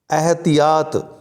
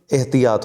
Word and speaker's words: एहतियात: यह वाला गलत है एहतिहात गलत है कि एहतियात होता है छोटा होगा एतिहात को